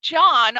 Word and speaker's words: Jan: So make sure you go, and also please follow John on Instagram at John.Uddin, but it's spelled Uddin.